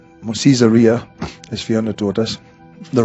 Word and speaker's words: Caesarea: In Acts chapter 10, in Acts chapter 10 verse 1, There was a certain man in Caesarea, or Caesarea, as Fiona taught us, the right way to say it, called Cornelius, a centurion of what was called the Italian regiment.